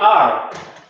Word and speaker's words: are: El am se pronunciaba tal cual, el is también, pero el are no era are, sino que simplemente se había que quitar la e y esa r, ya, exagerarla en el inglés.